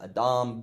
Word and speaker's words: adam: It's not pronounced Adam, it's pronounced Adam, but that is the word for man.